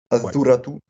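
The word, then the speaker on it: الذرة: Le L, il se prononce pas au début, j'imagine. Voilà, c'est ça. Le L ne se prononce pas. On passe du A au ZA. C'est Azou. Azuratu.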